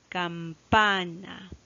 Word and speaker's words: campana: en la siguiente palabra campana campana como vemos la mayor fuerza de voz recae en este caso en la penúltima ya en la primera